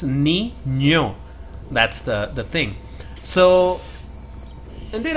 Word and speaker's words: Niño: In Spanish that thing is called ñ. And the pronunciation is that. Like, there's this word, kid, or boy, more like boy. When you say boy in Spanish, you say Niño. And that's where you use that letter, the second syllable.